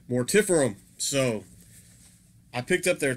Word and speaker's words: Mortiferum: I've always pronounced their name as Mortiferum. I actually asked the band last night, and it is pronounced, they pronounce it Mortiferum.